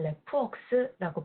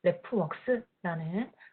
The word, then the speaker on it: RefWorks: 정확한 이름은 레프웍스라고 부르고 있습니다. 레퍼런스, 참고문헌 리스트를 뜻하는 레퍼런스 리스트 다 이제 아실 텐데 그 레퍼런스라는 단어와 works라는 단어를 합쳐서 만든 레프웍스라는 발음으로 저희가 부르고 있고요.